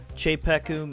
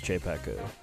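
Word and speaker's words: Czepeku: You know, they got that CZE at the beginning, and I'm kind of thinking that that's like, you know, like the Czech Republic or whatever. Like Czech. CZE Chepeku.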